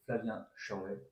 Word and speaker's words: Flavien Chervet: J'ai le plaisir d'être avec Flavien Chervet, c'est bien comme ça que ça se prononce.